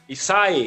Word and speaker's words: Issaei: I'm I'm still scared of pronouncing your last name wrong yeah I might slide is acai acai here we go so there we go the